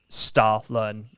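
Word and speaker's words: Stollen: um wow okay it it's spelled s-t-o-l-l-e-n but if you were to pronounce that in the uh you know pronunciation sure by Germans it's Stalin um so yeah that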